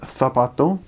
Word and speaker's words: zapato: lisp, but it means whenever there's a C or a Z letter, and the C makes a S sound, then you pronounce it kind of as we would in English, the, almost. So an example is heart is corazón, shoe is zapato.